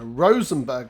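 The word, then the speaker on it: Rosenborg: us perfect timing so Rosenberg Castle not Berg as I incorrectly pronounced is yet another Royal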